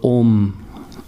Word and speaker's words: Om: And there's a mantra that is being chanted for deity worship, and it starts with the syllable Om. Om is also one very powerful transcendental sound, A-U-M, right?